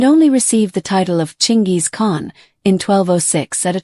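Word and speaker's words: Chinggis Khan: However, the Mongolian pronunciation is closer to Chingis with a soft G or sad sound. If you're trying to be historically accurate, that's the name you should be using, Chingis Khan.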